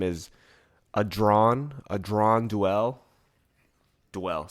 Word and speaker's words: Duell: Duell. Sounds like Duell with a W, but it's spelled Duell.